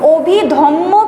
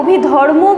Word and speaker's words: অভিধম্ম: বিনয় পিটক সুত্য পিটক এবং অভিধম্ম পিটক ওটা যে উচ্চারণটা আছে অভিধম্য অনেকেই কিন্তু সেটাকে অভিধর্ম বলে। অভিধর্ম কিন্তু নয়।